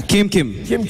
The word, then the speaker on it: Keamkym: Let's start with your name, Keam. Am I saying it correctly? Yeah. Keamkym. Keamkym.